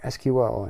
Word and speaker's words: SQL: is this SQL thing is it pronounced sequel or SQL and either way some people will mishmash I'll I'll interchange SQL and sequel anytime so basically it's